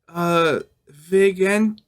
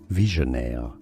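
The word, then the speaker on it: Vigenère: Using the word train as a key for Vigenter cipher. Wait, how is this pronounced? Visionaire cipher. Visionaire cipher, okay.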